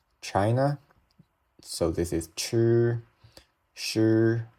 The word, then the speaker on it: shi: So this is chi, shi, like shut down, shi, zhi, chi, shi.